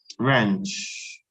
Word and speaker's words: wrench: the meaning of that wrench wrench yes you're right yes silent W yes how about X